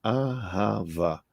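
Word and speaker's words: אהבה: hebraico arrava amor arrasava o que é se pronuncia aava Vamos tomar as unidades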